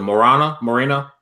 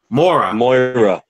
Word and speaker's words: Moira: I found my niche with was it Marina? How you pronounce it? Moira.